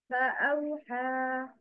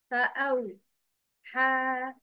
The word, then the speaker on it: فأوحى: فأوحى. But the wrong is فأوحى. مدهم تاني. The word is pronounced connectedly without pausing at the separated letters.